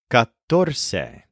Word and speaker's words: catorce: The word for 14 is catorce. This is very different from cuatro. Catorce is spelled C-A-T-O-R-C-E. So both cuatro and catorce do start with a hard C, and both have a T and an R in there somewhere.